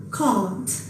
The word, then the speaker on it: caught: Y la última, con la A larga, caught.